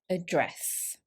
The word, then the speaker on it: address: me to address you the stress here is on the second syllable address now let's do a